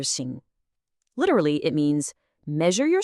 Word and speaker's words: 行: And finally, we have xing or sing.